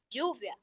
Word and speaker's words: lluvia: Não, em espanhol ela se pronuncia, ela tem som. E tem muitas palavras comuns. Por exemplo, duas L, Uhum. bora ler. A B Bora. es igual. Lluvia.